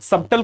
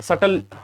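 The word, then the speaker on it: subtle: सबटल कुछ लोग पढ़ते हैं बट सटल सही प्रोनाउंसिएशन है।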